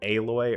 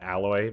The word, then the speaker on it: Aloy: Uh, in the last one, I got all the way up to Aloy or I pronounced it alloy because I've never played Horizon Zero Dawn, and I had a great time making that video.